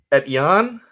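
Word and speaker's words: Etienne: supposed to be pronounced it is a french name edien and it is pronounced at yon best was to describe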